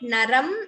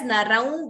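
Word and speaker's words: नरं: First word, is it naram or narav? First word is naram varshiyamsam.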